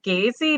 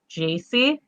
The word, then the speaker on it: Gacy: yeah but hey john isn't this pronounced gazey no it's a soft g it's it's so your name is john wayne jaycee uh-huh and you were